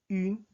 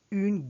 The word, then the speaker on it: une: Next, une gare. Again, when you pronounce the une, it's as if you're pronouncing in while your lips are prepared for the pronunciation of O.